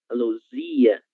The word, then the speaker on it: Luzia: Luísa, Luzia, Luísa, Luzia, certo? É diferente da palavra Luísa, Luísa, Luísa, Luísa. E neste caso temos a letra Z, então ela deve ser pronunciada com o som Z, Luísa e Luzia.